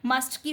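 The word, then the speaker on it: mustn't: मस्टर्ड नहीं पढ़ने हैं इस कैसे में आपका जो मू एस के बाद टी है ना वो टी आपका होता है बट वो मतलब दिखे रहा है बट वो साइलेंट है ठीक है तो आप इसको रीड करते हैं मऊ एस और टी मसत ठीक है 4 रीड करेंगे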